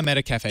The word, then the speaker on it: Metacafe: done the same thing with what is it pronounced, Metacafe? Yeah, Metacafe.